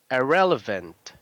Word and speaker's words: irrelevant: Irrelevant. Irrelevant. So you have to pronounce the V.